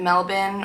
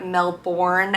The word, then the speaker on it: Melbourne: narrowed it down to Sydney and Melbourne or Melbourne As Americans say but I'm trying not to say that because it's kind of embarrassing I decided for me